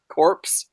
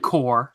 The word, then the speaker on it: Corps: the Green Lantern Corps what did I say corpse no I did not I said core you do it said